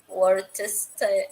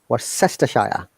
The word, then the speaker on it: Worcestershire: Worse, worried, warm, Worcestershire.